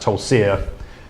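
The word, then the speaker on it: Tulcea: place, and excuse my, I think it's pronounced Tolsia, in just over the Danube in Romania.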